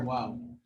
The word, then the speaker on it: Waw: So a Waw is pronounced by joining the lips where you make them go in a forward direction.